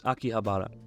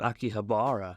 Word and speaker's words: Akihabara: Remember, it's Akihabara. Akihabara. Akihabara, not Akihabara. In Japan, you don't put an accent on a certain syllable, so give them all the same weight. Akihabara.